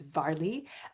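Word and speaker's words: Mhairi: She spells it out. It's vari. Um and so I know I know it sounds different than what we in America might pronounce, but there you have it.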